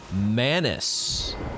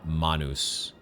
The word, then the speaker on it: Manus: this passageway oh oh Manis or I I think you're technically supposed to say it Manus that would be the Latin pronunciation hand it makes so